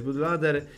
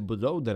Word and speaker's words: bootloader: zmienić Soft musimy odblokować bu lader ale po kolei Uprzedzając komentarze Tak wiem Mówi się bootloader a nie Bud lader ale mam taki dziwny